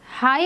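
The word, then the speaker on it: high: हाई में हम जी को प्रोनाउंस नहीं करते हैं, इट इज़ a silent letter, और मोस्टली एच से पहले जब जी आ जाता है तो हम इसको एज a silent letter consider करते हैं।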